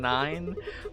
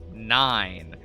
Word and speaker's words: nine: You don't pronounce the E in nine. Well, not actually. But the E plays the important role of giving its power to the I. So you say nine rather than like nin, right?